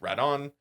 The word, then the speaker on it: Rodan: In Japan rodan's pronounced radon while in English it's usually rodan.